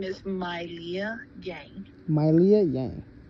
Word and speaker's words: Milea: like, for my names, the way how it's spelled, it's split into two names, so then it makes it looks like Leah, it's the middle name. I see. However, the name is Mylia, so the full name is Mylia.